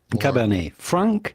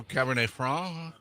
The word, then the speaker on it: Cabernet Franc: But for the typical French pronunciation, you do not want to pronounce the C at the end of Franc because it is silent in French, as many last letters of words are just like the T of Cabernet.